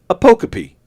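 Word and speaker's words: apocope: A p o c o p e pronounced a pokey.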